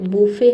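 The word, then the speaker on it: buffet: बुके का मतलब होता है भोजन की मेज को हम बुके बोलते। बुफे है सॉरी बुफे। इसमें भी टी लेटर साइलेंट रहता है और डिब्यू मतलब होता है पहला प्रदर्शन।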